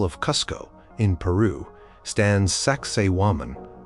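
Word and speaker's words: Sacsayhuamán: High above the ancient Inca capital of Kusco in Peru stands Saxwoman often pronounced like sexy woman which makes it memorable.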